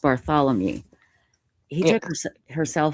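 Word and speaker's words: Barthelemy: And uh this is a victim Melissa Bar- It's It's pronounced Bartholomew.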